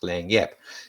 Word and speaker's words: lagniappe: It's not spelt that way as you can see on the screen, but it's pronounced Lagniappe.